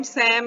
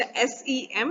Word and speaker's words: SEM: बोलते हैं, या TEM, वैसे टैम सैम ये सही नहीं माना जाता, इसको प्रोनाउंस हमेशा SEM और TEM किया जाता है, ठीक है।